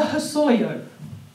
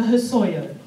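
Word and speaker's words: Hossoyo: Syriac words body so the Hosoi yo the Hosoi oh and that is spelt H double s Oh why Oh her Sawyer and we you know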